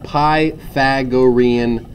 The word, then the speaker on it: Pythagorean: it is spelled kind of like that it's pronounced Pythagorean theorem all right and the Pythagorean theorem states